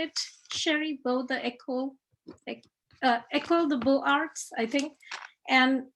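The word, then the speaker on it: École des Beaux-Arts: Both the École de Beaux-Arts, I think. And it's pronounced École de Beaux-Arts.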